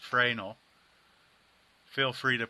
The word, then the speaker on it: Fresnel: It looks like Fresnel, but it's actually pronounced Fresnel.